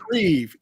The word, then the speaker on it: Shreve: Shreve, like Eve, but got it.